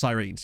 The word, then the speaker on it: Sirens: follow welcome aboard yeah the club's name is pronounced sirines yeah he's done all